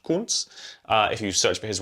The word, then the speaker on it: Kuntz: Okay, German name, pronounced Kuntz.